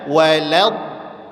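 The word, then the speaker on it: ولا: tipis ghairil magdubi alaihim walad wau tipis lam tipis do tebal kesalahannya dibaca wad Wal. Ah, itu enggak ada huruf tebal di situ. Wya tipis, lamnya tipis, donya tebal. Maka dibaca walad walad ya. Wau tipis wa la. Wa la baru d-nya walad do.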